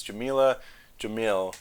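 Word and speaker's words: Jameela Jamil: is it's uh i'm gonna probably pronounce her name wrong but it's jamila jamil from the good place who is great and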